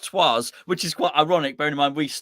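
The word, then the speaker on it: Troyes: house he is um he's from troy's um which i think they pronounced twas which is quite ironic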